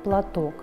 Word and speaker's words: платок: словарным словом это слово платок слове платок два слога ударение падает на второй слог нам нужно с вами